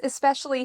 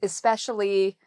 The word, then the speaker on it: especially: So the second syllable has the stress.